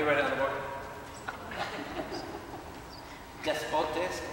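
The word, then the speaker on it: δεσπότης: Despotes, D-E-S-P-O-T-E-S.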